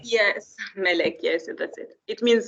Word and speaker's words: Melek: Melek, am I pronouncing your name correctly? Yes, Melek, yes, that's it.